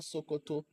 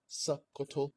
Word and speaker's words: Sokoto: Sokoto, it's not Sokoto. There's a glottal stop in the pronunciation of Sokoto.